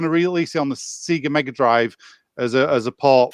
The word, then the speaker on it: Sega: i never knew that you pronounced it seeger you don't it's sega he pronounced it sega